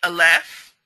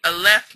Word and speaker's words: aleph: So in original Yahudyath, the aleph makes a ah sound. It doesn't change. It's ah. It actually has a sound.